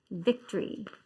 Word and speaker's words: victory: Yes, and do we say victory or victory or victory? Victory. Yeah, where does it show? It shows it on the first syllable.